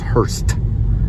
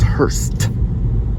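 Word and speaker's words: Hirst: It's actually, the drummer's name was Hurst. It's spelled H-I-R-S-T. He was the drummer. And he was one of the creators of Midnight Oil. Yeah. His name was Hurst.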